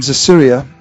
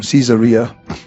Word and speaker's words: Caesarea: In Acts chapter 10, in Acts chapter 10 verse 1, There was a certain man in Caesarea, or Caesarea, as Fiona taught us, the right way to say it, called Cornelius, a centurion of what was called the Italian regiment.